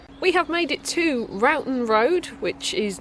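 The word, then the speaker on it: Roughton Road: shortly we have made it to Ron road which is not pronounced ruon road which is what I used to think it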